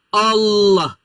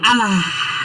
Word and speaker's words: Allah: Jika dia ya diawali dengan fathah mungkin enggak tahu fathah gitu, maka dia dibaca tafhim tebal. Allah enggak ada alah enggak ada.